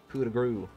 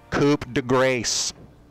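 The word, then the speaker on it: coup de grâce: give them the ol kuda guru sorry let me pronounce that right coupe de grace i really need to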